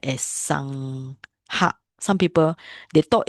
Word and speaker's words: sangha: So you cannot pronounce it sangha. It's not sangha, it's sangha. Right? This GH. Sangha.